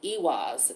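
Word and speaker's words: Eihwaz: first rune that we have it is called ewas this sign this symbol it is spelled e-i-h-w-a-z and this talks about being defensive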